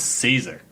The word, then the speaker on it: Cesar: It's Caesar. It's DJ Jim Johns. Everything's not pronounced the right way here.